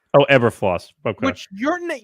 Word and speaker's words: Eberflus: Which is Matt Eberfluss. Oh, Eberfloss.